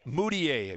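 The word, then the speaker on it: Mudiay: eye test now um Emmanuel how do you pronounce his last name moodier moodier moodier now he chose to go to China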